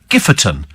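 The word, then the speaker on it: Giffordtown: And near us, we have a place called Gifford Town, which is pronounced Gifferton.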